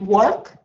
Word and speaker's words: work: Is it work or work? The correct way of pronunciation. Maybe work. Not work. Work. It's somewhere in your throat.